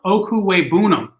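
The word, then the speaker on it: Okwuegbunam: know these things but albert o's last name is pronounced oku weibunum okay okuwei boonum oh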